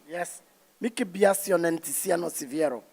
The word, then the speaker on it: Siviero: Mickey Biasson and Tiziano Siviero.